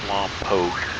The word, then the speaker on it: Lompoc: It is pronounced Lompoc.